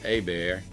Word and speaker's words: Hebert: A few minutes later, their friend Hebert, they pronounce it Hebert for the folks that don't know how to talk Cajun, comes walking through the bushes.